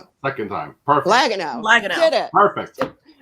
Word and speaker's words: Liaguno: Joining us today, back for the second time, this time flying solo, editor extraordinaire, Vince Liaguno. Did I say it right? I said it wrong. Liaguno. Perfect. Second time. Perfect. Liaguno.